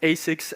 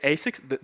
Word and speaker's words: ASICS: Speaking of which, yeah, it can be pronounced ASICS, ASICS, or even A6, because whenever I tell the name of the